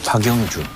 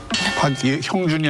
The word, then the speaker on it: 박영준: 이게 지금 보면은 MB의 박영준. 형준이 아니라 박영준. 발음 조심하셔야 됩니다. 형자하고 다르지.